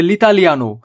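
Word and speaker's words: l'italiano: বন্ধুরা একটু খেয়াল করবেন এখানে লিতালিয়ানো বলছি আমি এল যুক্ত হয়েছে এই শব্দটি হচ্ছে আর্টিকেল এল যুক্ত আছে ইতালিয়ানো শব্দের সাথে তাই উচ্চারণ হবে লিতালিয়ানো পারলো পকলতালিয়ানো আমি কম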